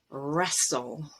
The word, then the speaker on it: wrestle: And at the end of a word, if you have S-T-L-E, T is always dropped. Castle, whistle, wrestle, hustle.